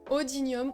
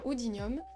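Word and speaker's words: Oodinium: a l'oudinium qui est alors odinium oudinium vous le prononcez comme vous voulez moi je dis oudinium donc l'oudinium vous avez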